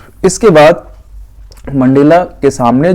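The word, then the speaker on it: Nkosi: दिया हुआ है national anthems and visions of white singing कोसी सैक्लेल E Africa. इसको कोसी पढ़ेंगे, एन साइलेंट रहेगा, ठीक है।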